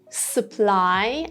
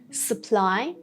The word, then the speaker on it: supply: Supply. Again, this U sound after S has the schwa sound here. Supply.